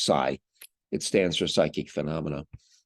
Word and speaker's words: psi: a Greek letter Sai it's spelled PSI but pronounced Sai it stands for psychic